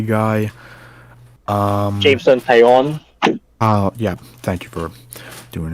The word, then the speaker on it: Taillon: Jameson Italian. I still have trouble pronouncing his last name, but it is what it is. He'll be our number 3 guy. Jameson Taillon.